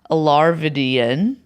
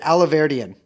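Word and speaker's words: Alahverdian: AKA Arthur Knight AKA Nicholas larvidian no I heard a guy pronounce it earlier aloe Verdian okay Nicholas aloe Verdian mm-hmm also AKA Nick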